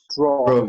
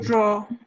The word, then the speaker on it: draw: Draw. Draw. Draw. Eso. ¿Ah? No dirán draw, sino draw. Termina en O el sonido.